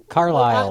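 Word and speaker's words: Carlisle: T carsle Carl Isle do the S silent carile usually the S is silent yeah t Carlile 4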